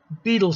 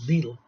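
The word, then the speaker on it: Bedell: and general WB Smith that's Beatle Smith they called him he spelled Vidal but they pronounced the beetle were preoccupied with the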